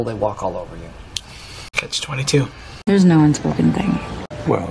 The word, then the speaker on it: Catch-22: The word catch is just one syllable, and then 22 is three syllables, and the stress is on that final syllable. Catch 22.